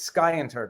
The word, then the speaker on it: scienter: scienter according to joe i say sienter since that's how i learned it the accent is on the uh it's a hard see it's sky inter guys come on defendant